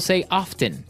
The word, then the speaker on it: often: some people like to pronounce often right they kind of leave out the strong T sound while other people say often that's right both forms